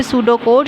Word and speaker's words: pseudocode: You have to pronounce not सूडो कोड, you have to pronounce it सूडो कोड।